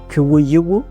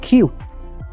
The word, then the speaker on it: queue: Kuwayiwu. No, you don't say it like that. You're wrong. It's just like the letter Q. Just Q. The front of the Q.